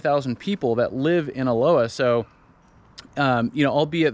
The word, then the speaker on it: Aloha: about it they they refer to it as Aloha um honest mistake but it's pronounced Aloha like we've been saying and there is some